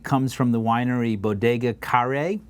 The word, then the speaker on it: Kare: This rosé comes from the winery Bodega Kare, although it's it's spelled care, but it's Kare.